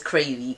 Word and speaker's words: CRAYXVEE: My channel is CRAYXVEE. CRAYXVEE. The X is silent.